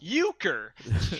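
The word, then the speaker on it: Uecker: general trivia Bob uker his last name is pronounced uker that's a good one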